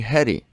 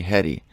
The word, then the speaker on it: Hedy: says but my friends call me heady that's basically my name you can call me Hetty I said heady interesting and then I said just like Hedy Lamarr you know the famous